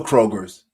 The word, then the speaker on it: Kroger: for 40 plus years it's Kroger not Kroger just one it's one but I know they